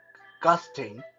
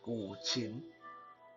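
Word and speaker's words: guqin: lot of people uh i know like to pronounce that gusting uh gutting or gutsing uh all kind of weird uh pronunciation but the proper way to pronounce this is a gulchin right g-o-o and then shin c-h-i-n-g now that's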